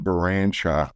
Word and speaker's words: Baranchok: My name's Barshock. B A R Well, you can see it's spelled B A R A N C H O K.